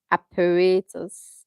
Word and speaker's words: apparatus: But the emphasis is on the second syllable. The emphasis is on the second syllable, not the first one.